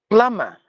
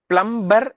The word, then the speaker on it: plumber: photography photography no photography plumber plumber no plumber PL the m is silent sorry the B is silent the r is silent